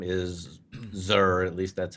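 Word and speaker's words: Xûr: His name is Zur. At least that's how I always pronounce it. It's XUR. That's how it's spelled, Zur.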